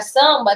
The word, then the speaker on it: samba: Então, na palavra samba tem 5 letras. 1, 2, 3, 4, 5. Mas fonemas só tem 4, porque esse M ele não é um som, ele é apenas um nasalizador.